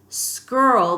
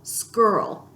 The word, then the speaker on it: skirl: the words you'll hear skirl this is a great word SK I our element not reminds rhymes with girl skirl and that means a